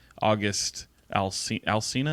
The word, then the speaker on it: August Alsina: uh was what Jada Pinkett Smith had with August Alsina is how you say his name anyway he